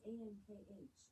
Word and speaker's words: ankh: It is pronounced as Ankh.